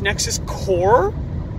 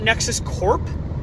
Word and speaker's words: Nexus Corps: also for the record it's pronounced Nexus core not Nexus Corp I did tell people